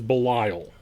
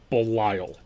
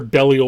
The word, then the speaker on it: Belial: a beliel um and that is the proper biblical pronunciation it is belial belial i'm not fighting you on anything sir my god belial i swear to god if i hear bellio one more time i'm just gonna i'm